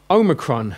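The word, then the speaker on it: ὄμικρον: quite hard this one then you've got Omicron nice and easy there Oh in not oh it's a short 0 Omega is a long oh and this one's a short o when I was taught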